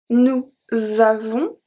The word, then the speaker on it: nous avons: We don't pronounce the S at the end of avons.